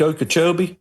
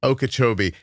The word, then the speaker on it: Okeechobee: Lake Okeechobee. Okeechobee. Is that the Everglades? Are you in that part of the state? Yeah. This is the Everglades here. We're in the Glades. Basically, the towns surrounding Lake Okeechobee are considered the Glades, if you will.